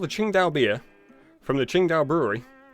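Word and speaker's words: Tsingtao: it even though it looks like it's it's pronounced to sing tau it's actually pronounced qingdao because apparently their ts and their queues become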